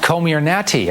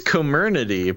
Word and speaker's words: Comirnaty: Yeah, because it sounds like Illuminati, but it's Comirnaty. Called Comirnaty.